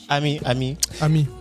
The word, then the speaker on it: Ami: Et Amy Yerewolo. Ami. Ah, Ami. C'est pas Amy. Comme Amy Winehouse.